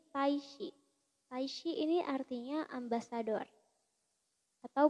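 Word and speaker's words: 大使: Dia dibacanya tetap shi, jadi taishi.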